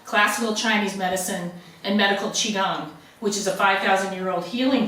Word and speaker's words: Qigong: Is that the proper pronunciation? Yeah, Qigong.